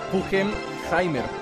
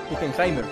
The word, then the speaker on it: Pugenheimer: Pronuncia mi nombre es Pugenheimer, Pugenheimer, ¿ok?